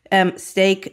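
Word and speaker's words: Steak: Stake is spelled like the meat, so S-T-E-A-K.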